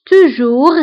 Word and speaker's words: toujours: Toujours, toujours هي دائما. Toujours, فبالنسبة لتوجور كنكتبوها بأس في آخر الكلمة ولكن لا ننطقها.